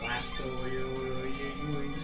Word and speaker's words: Blastoise: Blastoise.